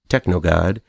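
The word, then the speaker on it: TKNOGD: enjoy in this one tkn OGD pronounced technog good was another one that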